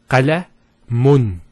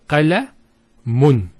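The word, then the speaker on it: قَلَمٌ: If we put two Dhammas, it will be pronounced as qalamun. Qalamun. So notice the noon sound at the end.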